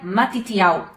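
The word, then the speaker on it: Matityahu: O nome Mateus vem do hebraico e ele se pronuncia matitial.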